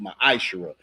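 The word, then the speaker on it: מעשר: numbers 18:21 Malachi 38-10 it means 10th in Hebrew and it's pronounced maish that's Hebrew we have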